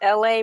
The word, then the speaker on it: LA: My name is LA, pronounced like LA, like the city.